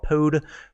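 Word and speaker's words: Pode: out there in the open source Community called pod for Powershell it's spelled p-o-d-e so if you are interested go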